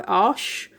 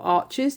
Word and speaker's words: Arches: The paper that most people are using for oil and cold wax is made by Arches or Arches, depending on how you pronounce it. Arches is a village in France where they make the paper.